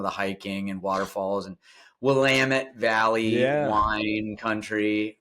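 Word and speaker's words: Willamette: and some of the hiking and waterfalls and Wamut Valley wine country, right? You got to pronounce that correctly. Wamit.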